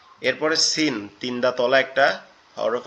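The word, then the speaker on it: سين: আর এটার উচ্চারণটা কেমনে হবে, জিহ্বার আগা নিচের দুই দাঁতের আগার সঙ্গে লাগবে, জিহ্বার আগা নিচের দুই দাঁতের আগার সঙ্গে লাগবে, লেগে উচ্চারিত হবে ঝা ঝা ঝা।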